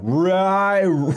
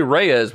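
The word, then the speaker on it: Reye's: I don't think that is because that's spelled differently. Raise. I was going to say Reyes, but it's got the apostrophe.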